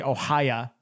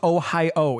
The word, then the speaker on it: Ohio: you know this or not they don't even pronounce it ohio they so they say ohaya it's like that's wrong well now that depends